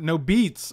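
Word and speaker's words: NoBeats: It's crazy old, but can you please pronounce it? No Beats. Oh, that's right. I keep calling it Noberts for some reason, dude.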